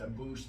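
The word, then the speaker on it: Abus: Did you watch his last fight with it's a boost, but it's spelled a bus?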